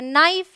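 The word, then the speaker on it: knife: alright rule number two अगर के के बाद एन आए तो के साइलेंट होता है जबरदस्ती ये इन सभी वर्ड्स में शुरू में रखा हुआ है इसका कोई मतलब नहीं है ये है नाइफ ये है नॉलेज ये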